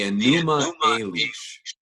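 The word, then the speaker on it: Enuma Elish: here because I want to make sure I pronounce it right right the aneema unleash and that's that's a Babylonian creation narrative it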